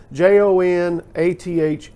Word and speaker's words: Jonathon: And my mother gave me that name spelt with an O and always said that it was like the old English spelling of Jonathan. So it's Jonathon.